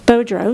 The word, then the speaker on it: Beaudreau: may recall that uh mr bu bodrow not boudreau he's from alaska he mr bodrow spelled like boudreau though he uh he worked